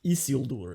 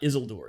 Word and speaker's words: Isildur: Anyway, Isildur. It's not Isildur, it's Isildur. Anyway. Isildur. You gotta roll your Isildur.